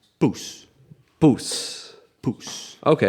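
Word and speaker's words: poes: so it's spelled p-o-e-s p-o-e-s okay it's just pronounced puss puss puss okay it's like papoosa and i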